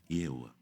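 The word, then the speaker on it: Jehovah: então i é isso Jeová escreve assim i e h o v a h e tipo yova mas pronuncia-se yoa amém amém Vamos acabar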